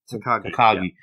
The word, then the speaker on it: Takagi: How do you pronounce it? Takagi, isn't it? Takagi.